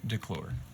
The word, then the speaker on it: Declure: right to be honest it is vel ray de klor so you're back at the declared estate um